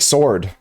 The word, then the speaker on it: sword: It just sounds like sword. S O R D sword, but English is weird, so it's sword instead of sword. There's no W pronunciation in it.